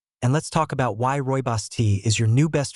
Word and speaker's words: Rooibos: If you haven't heard of it yet, Roy Boss, pronounced Royos, is a vibrant red herbal tea that comes from a plant native to South Africa.